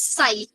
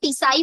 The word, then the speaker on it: psi: Structure is known as साई, PSI। अब आप बोलोगे मैम इसको तो पिसाई बोलना चाहिए, क्यों बोला? टी साइलेंट रहेगा इसका, ठीक है। पिसाई मत बोलना, साई बोलना, साई, we call it साई, ठीक है।